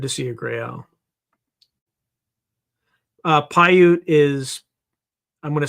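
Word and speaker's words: Paiute: Uh, Pyute is I'm going to spell it phonetically like I would in the military.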